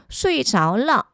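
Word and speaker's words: 睡着了: 수이저라고 읽어주시면 안 돼요. 어떻게 읽어야 될까요? 결과보로 쓰일 때는 수이저. 그래서 표현으로 기억하실게요. 잠이 들었어요. 수이저러.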